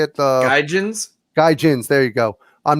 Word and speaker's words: Gaijins: Gaijins.